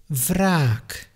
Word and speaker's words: wraak: And to conclude, if the W at the beginning of a word is followed by an R, you pronounce it like a V. For example, wraak, vreed, vroeging.